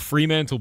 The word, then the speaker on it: Fremantle: How do you pronounce that? Fmental. Fantanthal. That's a weird name. Blue like the sky and usually empty. Fremantle. Wait, wait, wait. So, it's called Fremantle Beach.